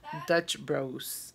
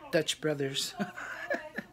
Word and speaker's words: Dutch Bros: vlogs de Dutch Bros, am I saying it right? Dutch Bros. Me regañaron porque un día dije Dutch Brothers.